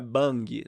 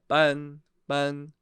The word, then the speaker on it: 帮: 帮 Cuidado com a pronúncia, não é bang. Bang tá errado. Não é com som de B e esse G nem sai. Então é 帮请帮我算一下.